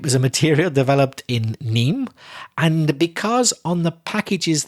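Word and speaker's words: Nîmes: of niem n-i-m-e-s although the s of course is not pronounced in french so neem so de nim that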